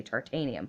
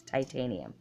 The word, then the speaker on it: titanium: I'm trying to say tartanium, but it's titanium.